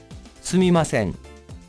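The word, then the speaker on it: すみません: sorry or excuse me there are two ways to say this word you can say sumimasen or su the difference is pronouncing the word with sumi or sui both are correct and you can decide which one works best for you personally i favor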